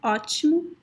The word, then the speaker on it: ótimo: Brazil, most people would pronounce the letter O when you find it at the end of words as a very weak U, U. As in the word that I already mentioned before, ótimo.